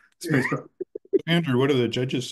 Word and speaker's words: SPSFC: But yes, so my wife's official pronunciation, which I will always hew to, is Spacebo.